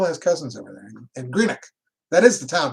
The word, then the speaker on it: Greenock: She still has cousins over there in Greenock. That is the town, right? Am I saying it right? Greenock? I'm in the next town from there. All right. Yeah, Greenock.